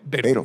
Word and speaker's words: Badel: Badel, I understand we've discussed how your name is pronounced, and it's Bagel with I guess a D, is that right? It's Badel. With a B. Badel, yes.